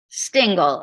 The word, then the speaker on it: Stingel: Pronounce it. Stingel, S-T-I-N-G-E-L.